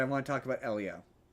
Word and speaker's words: Elio: Pronounced Elio. It's pronounced Elio.